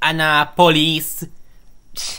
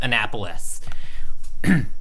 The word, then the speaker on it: Annapolis: call this capital wait Maryland okay maybe maybe Anna police nah just kidding it's pronounced Annapolis Kansas oh boy I think it's hot in